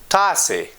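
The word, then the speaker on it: ته: And the plural subject Pashto pronouns are muk, tase, doi.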